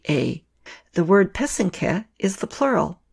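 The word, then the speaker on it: pysanky: Y s am KY the accent is on the second syllable an easy way to remember how to say it is that the first and third syllable rhyme so that's the path and the cat put it all together and you get peasant calf many other Eastern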